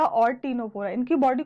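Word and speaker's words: Ctenophora: तो ये सिलेंट्रेटा को ही हम निडेरिया भी कहते हैं, इसमें सी हमारा साइलेंट होता है, और ऐसी टीनोफोरा, इसमें भी हमारा सी क्या होता है? साइलेंट होता है।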